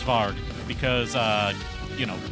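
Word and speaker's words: Warg: uh Wolf Monster it's spelled Ward but it's pronounced varg because uh you know it's like uh sort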